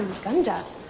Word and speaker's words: Uganda: It's pronounced Uganda. Oh, Uganda.